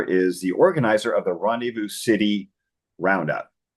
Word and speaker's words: Rendezvous: me uh Tyler is the organizer of the Rendevous City Roundup H is that correct I say